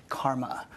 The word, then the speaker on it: CCRMA: the way that sh to ccrma and is pronounced Karma I direct the Stanford